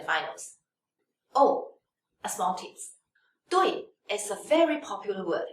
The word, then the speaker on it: 对: The, wei, dui. And this is the fourth tone, so we should pronounce as no.